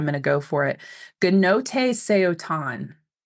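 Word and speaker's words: Gnothi seauton: Gnote Seotan is how Google has told me to pronounce this, and its meaning is know thyself.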